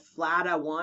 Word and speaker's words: PHLDA1: There have been studies about a stain called FLADA1, or that's how I pronounce it, PHLDA1, which will stain benign follicular things like trichoep and be negative in basal cells, I believe.